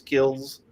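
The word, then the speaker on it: Kilz: And it's spelled K-I-L-Z, I believe it is, Kills.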